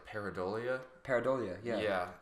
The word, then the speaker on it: pareidolia: I don't know how it's pronounced, but it's like Pareidolia. Pareidolia.